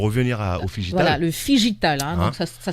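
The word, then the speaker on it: phygital: Voilà, le Figital. Donc ça s'écrit F-P-H-Y.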